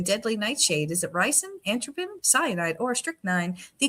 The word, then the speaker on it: atropine: Is it ricin, atropine, cyanide, or strychnine?